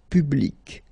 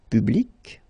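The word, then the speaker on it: publique: And well, phonetically, it is exactly the same thing. So public at the masculine form, feminine form, public, the same.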